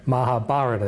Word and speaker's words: Mahabharata: says in the Mahabharata that's the correct Mahabharata is the correct pronunciation so like I said